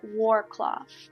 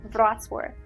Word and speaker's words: Wrocław: Also, this city is normally often mispronounced by those who come there. They call it Wrocław, but the correct name is Wrocław.